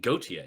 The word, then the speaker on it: Gauthier: Really, Gautier.